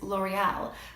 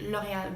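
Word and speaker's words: L'Oréal: gavel me so another great makeup brand is L'Oreal which is actually pronounced you know they added and as you guys probably know the Lohia group owns about half of the brands on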